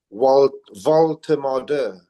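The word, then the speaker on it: Woltemade: Um, so we've moved on to um got this new kid um Nick Ward is how you pronounce his name um along with Wan V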